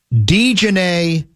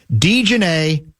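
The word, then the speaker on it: Dijonai: What I have is Dejanay Carrington. D-E-E, that's the pronunciation I'm saying. Dejanay Carrington. That's what I've been told is the closest we've got yet to the correct pronunciation.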